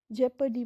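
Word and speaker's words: jeopardy: চেপারডিতেও ও কিন্তু সাইলেন্ট। এর পরে আসছে তাইতো? জেপারডি মানে বিপদ।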